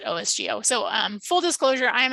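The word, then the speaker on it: OSGeo: um which is also we call it osgo so um full disclosure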